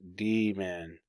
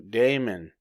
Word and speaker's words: daemon: on in modern usage the word Damon is pronounced demon in the context of computer software the original pronunciation demon has drifted to Damon for some speakers alternatively terms for Damon